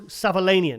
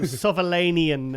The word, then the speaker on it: Savolainen: Oh, Marco Savalanian.